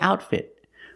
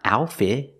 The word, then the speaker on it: outfit: outfit today too and with the word outfit both T's are stop T's it's not Alit it's outfit the t's are not silent we pronounce them I like her outfit